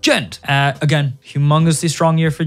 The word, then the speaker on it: Djent: And that is, of course, Djent, or as it's meant to be pronounced, Djent.